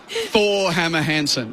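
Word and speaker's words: Thore Hammer Hansen: So yeah, the English pronounce it Thor Hammer Hansen.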